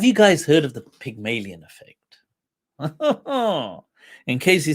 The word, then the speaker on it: Pygmalion: uh p y um pygmalion not pig as in pig pig but pyg pygmalion effect so yes thank you